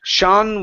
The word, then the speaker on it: Sean: Push up on your tongue, the top of your mouth with that N. Sean was a baby snail. Sean was a baby snail. One more time. Sean. Instead of Sean, okay, take out the oo sound and go directly to an ah.